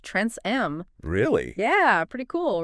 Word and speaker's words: Tranceam: We've got a pronunciation guide here, and it turns out TransSquareAmp is pronounced Trans-M.